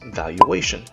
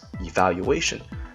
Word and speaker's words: valuation: The next one is valuation. It's not particularly difficult, but I have noticed many students mispronouncing this word as evaluation. They're not the same thing, and it's not a typo.